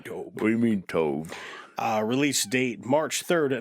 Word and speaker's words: Tobe: life it's to it's Tobe it's pronounced Tobe is it really I don't know it' be awesome if it was Tobe I can see it being Tobe what do you mean